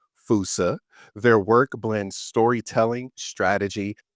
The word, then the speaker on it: Foossa: story of how we ellighted on the correctly pronounced Fousea? Indeed. Yeah. So, Fousea is we're named after an animal from Madagascar.